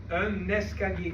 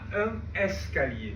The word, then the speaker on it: un escalier: un escalier. Et on ne dit pas un escalier. Ah oui. On va faire la liaison. Oui. On va dire un escalier.